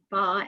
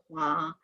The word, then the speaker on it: Hua: but the English version, they use the word fa instead of hua, because apparently in a different Chinese dialect it's pronounced Oh, that, but huh. not in Mandarin.